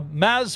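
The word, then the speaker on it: Mads: this jim uh a maz mickelson uh a a gentleman contactless nygaard commented on that video and said yeah you did pronounce it correctly uh the d is nice as ds should be really it was just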